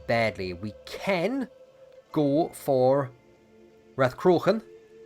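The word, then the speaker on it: Rathcroghan: we can go for rath crocon which should be the capital uh croakin or uh krohn there's a couple ways of pronouncing it that's that's the ancient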